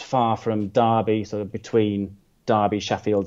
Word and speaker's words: Derby: The Brits say Derby, I know the Americans say Derby.